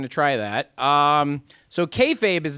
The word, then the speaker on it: kayfabe: I was going to try that um so kfabe is not a word I invented okay Fabe uh which is spelled k-a-y-f-a-b-e was a term of unclear linguistic